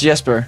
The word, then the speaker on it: Jesper: Is it pronounced Jesper or is it Jesper? It's Jesper.